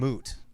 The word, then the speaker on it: moot: he has done is mute now because of what he did. Is that cancel culture? No, it's moot. I knew you were gonna. I knew I said it wrong.